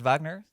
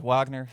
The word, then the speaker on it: Wagner: Um but to start off with Ricard Vagner, Richard Wagner in the American pronunciation.